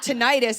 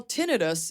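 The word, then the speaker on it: tinnitus: haven't heard it yet I said I go I think I have tentis and he goes well tinitus is a serious issue and I was like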